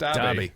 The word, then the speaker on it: Derby: It's pronounced Derby.